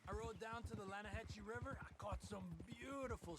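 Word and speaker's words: Lannahechee: The other day, I rode down to the Lanahatchee River, I caught some beautiful steelhead trout. You mean the Lanahatchee River? No. The Lanahatchee. It runs right near here. Yeah, but it's pronounced Lanahatchee. Why is everything in English said differently than it's written?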